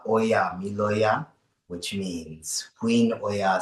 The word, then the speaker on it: Ọya: it out loud so everybody knows how it's pronounced but it's oya which means oa says it's time that's o the mother of children or oya says it's time.